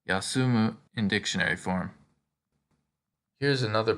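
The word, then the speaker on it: 休む: tree or resting under it this verb is pronounced yasumu in dictionary form here's another pictogram that should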